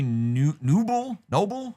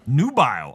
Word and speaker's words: nubile: Okay, apparently Noble? How do you say this word? Nubile.